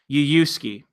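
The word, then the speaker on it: Yuyushiki: It's Yuyuski.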